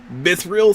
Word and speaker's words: mithril: out and being struck by lightning thus crystallizing mithril throughout the mountain yeah yeah that was sick